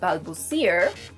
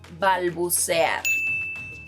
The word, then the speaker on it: balbucear: Another verb is, no, this verb is not pronounced balbucear, it's pronounced balbucear, and it means to stutter, which is what I do whenever I'm recording videos for Spring Spanish.